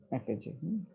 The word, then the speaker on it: effigy: effigy, এফএজি, এফএজি বলে, ইফেজি না, এফএজি।